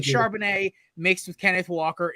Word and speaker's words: Charbonnet: guy's last name Zach charbonnet okay it's the French pronunciation okay because I saw